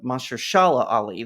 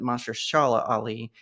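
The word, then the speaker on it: Mahershala Ali: sad to see especially a talented actor like Mahari Ali am I pronouncing that right Mas Shala Ali that's it Mash Shala ali um go through this because he wants blade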